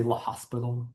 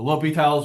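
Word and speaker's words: L'Hôpital: Don't say la hospital. It's ly. I mean, it's okay to say it wrong if you really want to, but it is a name. We try to pronounce it correctly.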